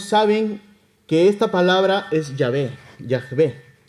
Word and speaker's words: Yahvé: que esta palabra es Yahvé. Así se pronuncia, ¿verdad? Yahvé creo que se pronuncia.